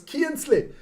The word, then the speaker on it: Kinsley: Then we have on the left wing, we have Balen Kinsley. Kinsley is how you pronounce that boy's name because he's Swiss, Swiss descent, but it's Keensley.